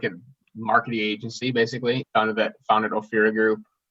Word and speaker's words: Ophira: How do you pronounce that? Ophira? Ophira, yeah.